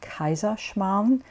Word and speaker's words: Kaiserschmarrn: is a famous Bavarian Austrian dessert it's called kaisa Shan in German I'm not expecting you to be able to pronounce it I spelled for you earlier in